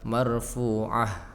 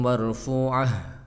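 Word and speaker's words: مَرْفُوعَة: Tadi di kalimat marfu'ah, tapi bukan marfu'ah bacanya, marfu'a, seperti itu kedengarannya. Masfufa wazarabiyyu mabthutha, jadi hanya enggak jelas. Harusnya wa qawabum marfu'ah wa namariqu masfufah wazarabiyyu mabthutha gitu ya.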